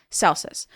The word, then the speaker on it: Celsus: by a man named Celsus or Celsus. Now, in Latin, the C is pronounced K and not like an S. So for the audience, for us English speakers, I'll pronounce it Celsus.